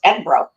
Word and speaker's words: Edinburgh: You have to say it right. The train the train conductor taught us Edinburgh. That's how you say it.